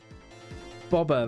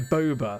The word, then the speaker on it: boba: they i'm rightly so bobber that was it yeah yes the bob uh sorry boba that's how it's pronounced i'm pretty certain that's